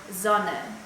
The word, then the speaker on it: Sonne: And the soft S is pronounced like in the word Sonne, which is the word for sun.